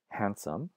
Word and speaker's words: handsome: words so if you look at words like handsome right that D in the middle of handsome used to be pronounced but of course not it's not pronounced